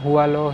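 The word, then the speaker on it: Hỏa Lò: एंड इसका exact pronunciation हुआलो ही है prison का, तो वो मैंने चेक किया था और ऐसे ऑडियो गाइड में भी बोल रहे हैं।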